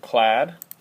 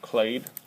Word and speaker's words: clade: the levels of classification, they're going to have this thing clad, or clade. I've always pronounced it clad.